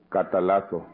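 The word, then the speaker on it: καταλλάσσω: touching on the first word, la cual se pronuncia catalazo.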